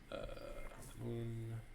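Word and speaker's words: al-Ma'mun: Mamun, not H. No H.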